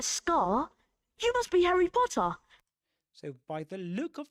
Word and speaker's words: Potter: And they don't pronounce the ra at the end of potter. Right? That short o sound in potter, the beginning of potter.